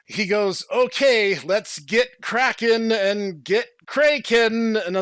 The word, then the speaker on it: Kraken: It's supposed to be Kraken because he's named for the sea beast, but they decided to like pronounce it Kraken. And so like the entire show they're calling him Kraken, which is like okay, whatever.